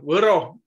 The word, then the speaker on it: Võro: And Janek also explained to you how to pronounce this word vowel with a wave on O, and it is ö, võro, but now you see